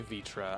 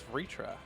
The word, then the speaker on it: Vitra: See, Kryl does say Vitra. I thought it was Vritra. Is the R just pronounced like an I?